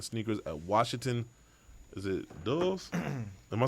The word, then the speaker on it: Dulles: Is it Dulles? Am I saying it right? Is it Dulles or Delays or whatever? It's pronounced Gordon. Dulles. That would be Dulles. Dulles. Okay, Washington Dulles International Airport. Dallas? Dulles. Close.